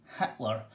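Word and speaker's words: Hiedler: pronunciation was the name heidler spell heidler but pronounced hitler and my opinion is that the priest wrote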